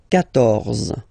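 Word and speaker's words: quatorze: So remember, Q and U here, well, basically you get to put this U vowel, because that's the rule in French, even if you don't pronounce it, okay? So you will get the sound K here.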